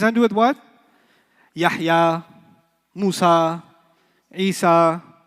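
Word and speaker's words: موسى: Musa will always be non-flexible. Musay. You haven't heard Musi, you've heard Musay. That's a qira'ah difference. It's a pronunciation difference, not a grammar difference.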